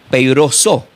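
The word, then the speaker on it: πειράζω: Esta palabra tentado en el griego se pronuncia como peiroso.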